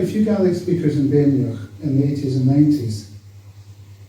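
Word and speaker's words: Badenoch: you know, I took my pronunciations from a hill farmer in Abernethy who was brought up in Rothiemurchus and was a really good Gaelic speaker. And he called it Bainioch.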